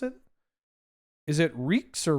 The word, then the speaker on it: Rijksmuseum: Is it Reeks or Rikes? Ricks? Please help. I'm Canadian. Because we saw they were doing maintenance on Night Watch. Rikes? Rijksmuseum.